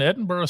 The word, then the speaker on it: Edinburgh: grows I live in Edinburgh Scotland and by the way did you notice the the soft little dead o that I put at the end of Edinburgh I heard that bur